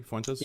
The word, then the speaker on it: Fuentes: Did I pronounce that correctly? Fentes.